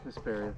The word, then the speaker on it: Hesperia: Hesperia.